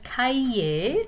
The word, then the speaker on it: cahier: So take or, grab your notebook, votre cahier. Okay, so the H is silent here. Cahier, du papier et un crayon ou un stylo.